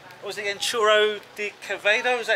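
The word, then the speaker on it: Chorro de Quevedo: I'm in an area called, what was it again, Churro de Quevedo, is that how you say it? Churro de Quevedo, with double R. You can do it. I can't pronounce the double R's, so yeah.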